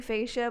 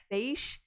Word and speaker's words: Facia: It's supposed to be Facia, but a lot of people mispronounce it as Faish, and so it's like fish.